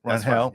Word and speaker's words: Rangel: Rangel.